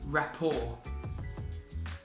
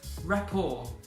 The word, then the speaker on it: rapport: have for today is rapport rapport now you'll notice that the T at the end of the word is silent we do not pronounce that letter so once again rapport